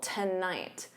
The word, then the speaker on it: tonight: And then night is your stressed syllable, tonight.